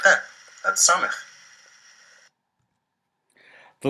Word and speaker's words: samekh: The letter Samekh is to be read like the letter S in sailing.